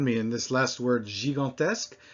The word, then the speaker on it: gigantesque: in this last word, gigantesque, we have both pronunciations of the G, the letter G, right next to each other. Before an I, it's J, and before an A, it's G.